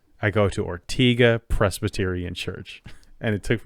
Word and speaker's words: Ortega: because of the singer I would say Ortega like Fernando or but nope it's ortiga everybody calls it ortiga I go to ortiga Presbyterian church and it